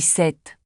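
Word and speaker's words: sept: Non, le P est muet. On dit 7.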